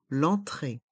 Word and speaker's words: entrée: supermarché l'entrée du supermarché le E du mot entrée est mué l'entrée l'entrée du supermarché l'entrée